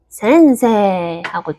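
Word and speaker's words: せんせい: 근데 이거 한국어로 써보면 생세이잖아요. 근데 왜 이게 생세하고 쭉 이어질까요? 왜냐면 얘는 에단이고 에단 뒤에 이가 왔으니까 센세하고 쭉 이어주는 겁니다.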